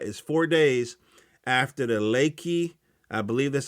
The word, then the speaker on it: Lekki: of october that is four days after the lakey i believe that's how you pronounce it l-e-k-k-i uh booth where uh state-sponsored